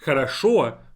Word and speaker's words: хорошо: Compare хорошо to хороша. A completely different word by pronunciation, but I just simply changed the stress of it.